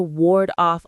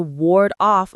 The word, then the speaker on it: ward off: up a fence to ward off unwanted animals from your garden, or taking vitamins to ward off a cold. It's about protection, keeping something bad at a distance. The stress is on ward.